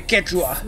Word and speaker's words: Quechua: No, it'd be Quechua. That's how you pronounce that.